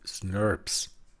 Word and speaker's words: snRNP: Deshalb spricht man diese Abkürzung als Wort aus im Englischen, und dann heißen die SNRPs.